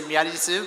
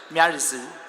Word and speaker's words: ミアリズ: The pronunciation is a little bit tricky because it's the local language. In Japanese, they say Miarizu, but in English, it's like Miarizu.